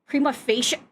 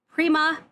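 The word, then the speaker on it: prima facie: to pronounce that nonsense there's no soft in Latin and you don't slur the I and the E together. You you pronounce them separately. Prima of copyright infringement are contribute.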